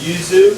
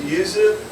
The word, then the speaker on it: Yuzu: we uh brw with the Yuzu am I pronouncing that right is it Yuzu yeah you got it Yuzu we brewed with Yuzu years ago a couple